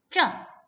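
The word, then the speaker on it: 这: 얘 발음은요. 쩌 라고 말을 합니다.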